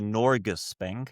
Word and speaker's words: Norges Bank: And I think if the by the way I pronounced that wrong. It's a Norus Bank. Norris Bank.